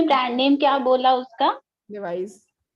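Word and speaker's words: Levi's: लेवाइस। Okay, लेवाइस, जिसको लेविस बोलते हैं सब, वही लेवाइस ही नाम है उसका, लेवाइस ही नाम है उसका मैम, कंपनी का।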